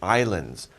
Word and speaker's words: island: So we call these islands. By the way, we don't pronounce the S in island. It's just island. Not island, island, island.